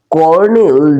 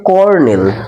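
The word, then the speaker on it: colonel: লিখি ব্যবহার করি তারপরে করনেল জন হন্ লেড এক্সপিডিশন এটা কিন্তু উচ্চারণটা করনেল তোমরা বানানটা দেখতে পাবে লেখা আছে স্যার কলোনেল তাইতো সি এল কলোনেল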